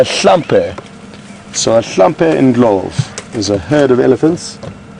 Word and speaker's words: Ndlovu: In Zulu it's spelled Ndlovu, Ndlovu, whereas in Shangaan it's spelled Ndolpfu, Ndlopfu, but pronounced very much the same.